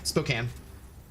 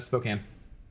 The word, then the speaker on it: Spokane: How do you pronounce Spokane? Spokane. My brother is there now, and I think he's saying it all wrong. It's Spokane.